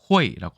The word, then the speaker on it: 卉: 호이라고 발음합니다.